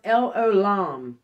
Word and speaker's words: El Olam: it's pronounced el olam jesus christ possesses the eternal attributes he is